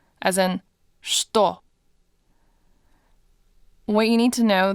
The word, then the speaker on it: что: In this word, this ch actually doesn't sound like ch at all. It's pronounced sh, as in что.